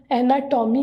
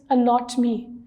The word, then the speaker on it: anatomy: ठीक है, इसको अक्सर लोग एनाटॉमी भी कहते हैं, बट the correct pronunciation of this word is अनॉटमी।